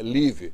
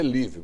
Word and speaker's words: live: A pronúncia é o verbo live, live, não é live. Não como um I, mas como um E. Live.